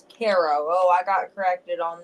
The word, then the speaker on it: Cairo: Not Cairo, Egypt, but Cairo, Illinois. It's Kairo.